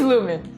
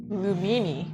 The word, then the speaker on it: Lumen: It is lumen, but some people say lumini. Lum lumin. Lumina. What is going on in my brain right now? Lumen. Lumin. I think my pronunciation was lumin.